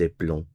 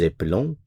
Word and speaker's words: épelons: Notice the change in the pronunciation of the E. Épelle, épelle, épelle, épelons. So we go from E to E. Épelle, épelons, épelons, épeler, and then back to épelle.